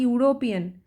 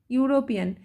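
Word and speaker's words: European: যদি একটা ওয়ার্ড লিখি ইউরোপিয়ান ইউরোপিয়ান এটা কিন্তু ই দিয়ে আরম্ভ হয়েছে কিন্তু এর সাউন্ডটা কেমন আছে ইউ সাউন্ড আছে তাইতো তো ইউ দিয়ে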